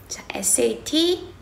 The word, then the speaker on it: sat: 할게요 음 여러분들 sat 와 sdt 를 일단 발음해 보세요 sat set 음 똑같은데 에 자 이거 의 차이점을